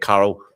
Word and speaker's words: Carl: of meeting him I I still pronounce it Carol for some reason. I can't get my head around this one syllable. H but Carl and his wife and